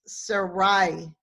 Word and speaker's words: Sarai: world pronouncing Sarai's name it ought to be pronounced suraíh and the eye on the end has this